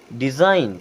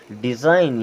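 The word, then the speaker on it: design: ई इसे क्या पढ़ते हैं जी होता है साइलेंट और इसे पढ़ते नोम क्या पढ़ते हैं नोम डिजाइन क्या पढ़ते हैं डिजाइन यहां पर जी होता है साइलेंट इससे संबंधित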